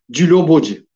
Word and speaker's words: Djilobodji: Dijoboji. Tamam. Teşekkürler kardeşim uyardığın için. Telaffuzunu tam bilmiyordum.